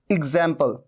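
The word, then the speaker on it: example: पहचानना है बहुत इंपॉर्टेंट तो एक्स का एक साउंड ऐसे आता है देखि एग्जांपल कैसे लिखा जाता है इसको लिख के दिखाते हैं एग्जांपल यहां पर ज के नीचे आप बिंदु देख रहे हैं एग्जांपल एग्जांपल गिव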